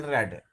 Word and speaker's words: read: It is written read, but when it is pronounced, it is spoken read.